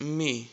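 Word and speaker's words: μι: Next is me. You must have heard it like mu or mu. It's not a cow, it's a letter, it's me, me.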